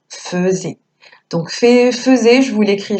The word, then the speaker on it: faisait: petit piège sacékripa faisait ça s'écrit fais et mais on l'entend faisait donc faisait je vous